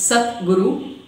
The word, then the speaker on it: Sadguru: The title Sadguru, pronounced as Sat Guru, in Sanskrit means true